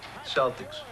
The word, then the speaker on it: Celtic: Celtics. You know, it's actually pronounced Celtic. What is? Celtic. You telling me the Boston Celtics are actually the Boston Celtics?